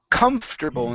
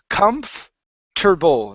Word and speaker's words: comfortable: word here is pronounced comfortable instead of comfortable it's comfortable try that Comfort uh comfortable uh almost okay so when we pronounce this word okay the o r that's in the middle disappears okay and we say